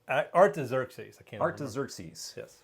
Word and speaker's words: Artaxerxes: I actually listened today of the recorded pronunciation of Artaxerxes.